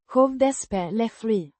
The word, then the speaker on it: skådespeleri: Pronounced Skådespeleri. with the emphasis on the second syllable.